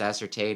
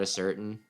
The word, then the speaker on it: ascertain: Do you know that that's pronounced ascertain and not a certain?